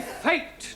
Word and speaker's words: fate: give you some examples let us take the word f a t now that has a flat a sound a good but if we add an e to the end of fat then what do we have fatty no Giovani fate now does anybody know